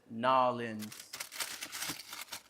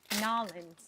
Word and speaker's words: New Orleans: The Burley Earl says Nolans. Nolans. That's how you Okay. pronounce it in a New Orleans accent. Nolans. Hey, you're right. People are like, New Orleans.